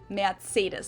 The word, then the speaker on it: Mercedes: Mercedes or Mercedes but I think in German it's got more of a t sound it's more like mid-sidies